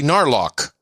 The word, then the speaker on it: Narlock: I would like the title, Sir Gnarls, the Gnarly Narlock. Pronounced like Warlock, except with an N.